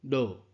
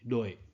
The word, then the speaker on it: 𢓜: 的意思，读音落或者是落。